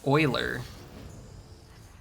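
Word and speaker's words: Euler: runs maybe as low as like 5% it's pronounced Oiler Oiler discovered so much they started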